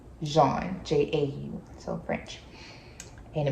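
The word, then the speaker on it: Jaune: said my name but my name is Jean it means yellow in French so that's how it's spelled like yellow in French not Juan Jean j-a-u so French and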